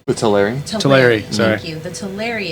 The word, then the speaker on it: Teleri: But God, my pronunciation is so bad. The Thranir elves? The Telemari? The Teleri? Teleri, sorry.